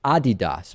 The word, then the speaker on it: Adidas: And now the world famous shoe and sports apparel manufacturer Adidas, which I'm actually told, Lewis is is properly pronounced Adidas.